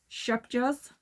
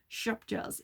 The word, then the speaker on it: Scheepjes: This is Shupjas. I'm saying it like that because I looked up how to say it. Shupjas. But you put the in it. I can't do that. So, Shupjas.